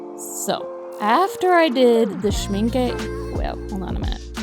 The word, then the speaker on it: Schmincke: after i did the schminke well hold on a minute how do you say this word okay i'm back it's schminka sorry my pronunciation of